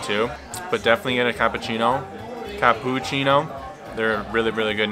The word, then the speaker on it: cappuccino: thing you're going to have to do is pronounce it's not actually cappuccino it's cappuccino right cappuccino so if you say that you'll